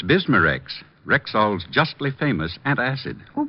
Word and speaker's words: Bismarex: B I S M A- R E X.